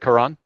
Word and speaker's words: Karan: The problem with the name is it's Karan. What's the correct pronunciation? Karan? Yeah. Karan. Because my name doesn't have vowels in Hindi. Okay. So the two A's you just add for the phonetics in English.